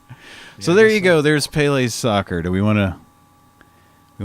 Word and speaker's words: Pelé: say penis I think the way you pronounce is it is Pele Pele emphasis on the second syllable I think it's probably